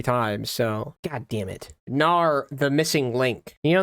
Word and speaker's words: Gnar: that is with Garrett next we've got genar I'm sure that's just pronounced Nar right or ganar maybe Nar or gennar Gnar yeah it is just Gnar okay I swore I